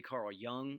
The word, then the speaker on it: Carl Jung: And then finally, Carl Jung, that's how you pronounce his name there.